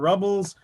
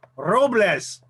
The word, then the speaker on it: Robles: i was in school ripped my name to shreds say mr robles mr rubbles mr barney rubble no robles and it took me